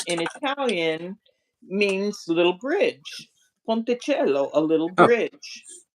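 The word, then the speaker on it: ponticello: Uh, but he pronounces it ponttoello and he's like completely convinced that that's the way it is. But I I didn't say but Italian, you know, is a phonetic language, meaning that it it's very consistent.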